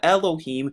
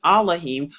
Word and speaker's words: Elohim: And it says, and Yahuwah Elohim, another way to pronounce Elohim is Elohim, formed man of the